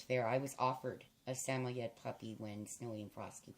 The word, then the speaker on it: Samoyed: They look a lot like Samoyed, or what's properly pronounced as Samoyed.